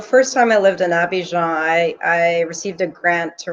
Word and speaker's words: Abidjan: It's Abidjan. Yeah, it's Ivory Coast, basically. Abidjan.